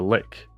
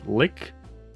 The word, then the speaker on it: lich: But yeah, apparently it's like I think the correct pronunciation is lick, but I don't know. I like saying lich. I think it just sounds better.